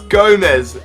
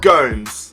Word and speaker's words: Gomes: Nicholas says it's Gomez, not Gomes. Yes, I did have a lot of questions last episode, or a lot of comments rather, paying me out about the way I pronounced Andre Gomes. I said Andre Gomes, but it really is Andre Gomez.